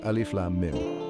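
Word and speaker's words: الم: Alif Lam Mim, LM. Pronunciation pronounced as 3 distinct letters, Alif Lam Mim.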